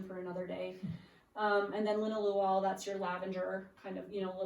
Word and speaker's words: linalool: How do you know in the spelling of the linalool, it almost sounded like the two O's are two different sounds.